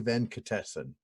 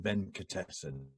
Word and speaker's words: Venkatesan: Our moderator for this session is Nandini Venkatesan. Now, Nandini tells me that this rhymes with delicatessen. So delicatessen, Venkatesan, Venkatesan, delicatessen. You got it? That's how it goes.